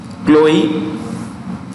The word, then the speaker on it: Chloe: Chloe, that's how you pronounce it. Chloe Zhao for Nomadland.